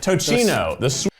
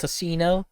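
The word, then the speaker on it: tocino: is this this is the tochino it's actually pronounced tosino but all right sweet pork now this looks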